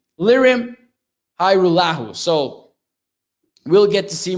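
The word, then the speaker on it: Lirim Hajrullahu: which everything went wrong pronounced hyrule says stevie mac thank you for the pr for the correction lyrium hi lahu so we'll get to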